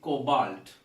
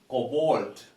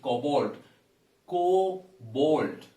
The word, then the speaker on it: cobalt: correct it is actually cobalt the pronunciation co bold so the sound here is also a long one cobalt you see the rhyming word is malt some people pronounce it